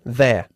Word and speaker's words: there: Intenta pronunciar las dos palabras they are, la contracción there, no there. ¿Eh? There, There. there. There. Sacando la lengua. Th, There.